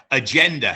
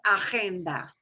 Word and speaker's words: agenda: Well, that GE is a GE. And GE in Spanish will not get the g sound. It will get the h sound.